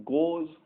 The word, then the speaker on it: gauge: उनको हम बोलते हैं गोज या गैज या गेज, जो भी आप प्रोनाउंसिएशन यूज करना चाहे, गेज इनवेरिएंट फील्ड्स।